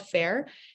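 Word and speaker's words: Faire: stockists yes 100 so there's this website called Fair it's spelled f-a-i-r-e and um you can list your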